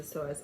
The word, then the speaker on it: psoas: the psoas muscle here it is spelled psoas this is the soaz major this is the